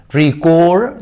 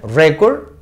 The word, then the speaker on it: record: Record the conversation. Aquí es un verbo. Aquí funciona como verbo. Por lo tanto, aquí se pronuncia record, que es un noun, y aquí record, que es un verbo.